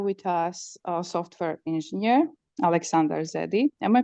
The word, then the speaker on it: Aleksandar Zedi: So today we have with us a software engineer, Aleksandar Zedi. Am I pronouncing your name right?